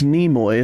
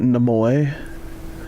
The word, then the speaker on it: Nimoy: said it I'm sorry it's Nimoy it's not new boy is it is it